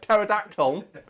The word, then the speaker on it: pterodactyl: But some letters can be silent, like pterodactyl. Come on, calm down. Pterodactyl.